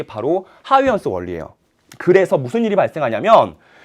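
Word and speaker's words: Huygens: 그 원리를 얘기한 사람이 바로 하위 헌스라는 사람이에요. 우리 옛날에는 호이겐스라고도 불렀는데 요즘은 그 나라 말을 따라서 직접 어떻게 발음되는지를 따라서 하위 헌스라는 이름으로 사용하고 있고요.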